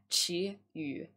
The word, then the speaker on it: Qiyu: So my real name is Qiyu, so in Mandarin it's actually pronounced Qiyu.